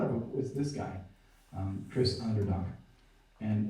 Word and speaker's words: Onderdonk: persons I thought of was this guy, Chris Onderdonk. And like I say, I've known him for 3-4 years, and it's not until about 3 months ago that I learned how to pronounce his last name. Onderdonk.